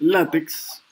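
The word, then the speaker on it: LaTeX: Moni, y ahí vemos una que se llama Overleaf, que dice látex, o late, bueno, la forma correcta de pronunciando el late.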